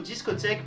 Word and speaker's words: discotheque: Du coup, discothèque prendra un accent primaire sur sa première syllabe et secondaire sur sa dernière syllabe.